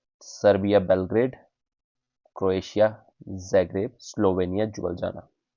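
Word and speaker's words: Ljubljana: Serbia Belgrade Croatia जैग्रेप Slovenia Jubbal जाना जुबल जाना एल is silent here Jubbal जाना जुबली जामा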